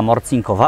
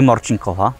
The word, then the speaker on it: Morcinková: Dzień dobry, Morcinkowa. Właśnie, Morcinkowa, a nie Morcinkowa, tak jak powiedziałem przed włączeniem kamer źle, ale już teraz wiem, że po czesku tak się wymawia.